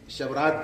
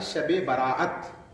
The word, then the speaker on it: شب براءت: سبحان اللہ، شب براءت۔ اردو میں تو ہم لفظیں بگاڑ دیتے ہیں، تلفظ خراب کر دیتے ہیں، لہذا کوئی شبرات کہتا ہے، کوئی شبرات کہتا ہے، کوئی کچھ کہتا ہے، کوئی کچھ کہتا ہے، لیکن حقیقت میں یہ رات ہے شب براءت۔ براءت کے معنی کیا ہے؟